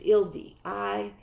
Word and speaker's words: Ildi: So I, like Hildy, with an H. So Ildi is Hildy. It's Ildi. Is it Ildi?